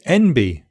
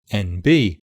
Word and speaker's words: NB: to say MB also the stress in the abbreviation NB is normally on the second syllable the B and